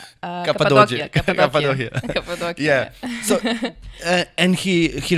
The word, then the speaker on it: Cappadocia: Cappadocia.